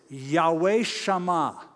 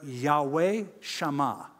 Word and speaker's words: Yahweh-shammah: the Hebrew name is similar to yet who shall I in but it's it is it is Yahweh Shama Yahweh Shama is the Lord is there that's Hebrew so not yet whose shall I'm but Yahweh Shama remember that get used to